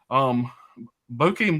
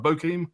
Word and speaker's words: Bokeem: Bokeem Woodbine, I say his name right, Bokeem.